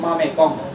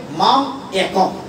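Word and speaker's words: मामेकं: যা লিখা আছে পড়বেন মামে কম, ময়কার মা ময়কার মেয়ে ক অনুসার পড়বেন, মামে কম, অর্থ বুঝবেন না। সংস্কৃত উচ্চারণ হবে মাম একম, একমাত্র আমার কাছে, মাম আমার কাছে, একম, অনুসার হবে মম।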